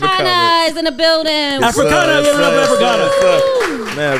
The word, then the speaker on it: Afrixana: And am I gonna say it right for me? Africana? Africana. Okay, because I didn't say Massachusetts wrong.